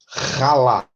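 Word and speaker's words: הלל: O verbo halá, o verbo ralá. Igual, mas olha como está escrito diferente. O verbo ralá e o verbo... O primeiro se pronuncia mais leve. Ralá. De maneira com um H aspirado no início.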